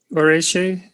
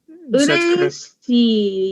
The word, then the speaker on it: 嬉しい: Oreshi? Ureshi, yeah. Oreshi. Mhm. Pronounce that once more. Ureshi. So you just break it down by each vowel.